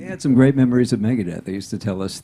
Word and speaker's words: Megadeth: did they pronounce Megadeth they didn't say Megan it's Mega Death magadette is playing this